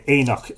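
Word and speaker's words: óenach: historical traditional assembly sites known in Irish as Aenagh, or the Eynock sites. And I'll spell that out for you on on a comment. O E N A I G E is the plural. Uh or Eynock, Singular.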